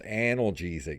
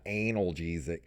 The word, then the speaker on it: Analgesic: name for a video game production company it's pronounced analgesic not anal GZ after a nearly year-long development through hon tani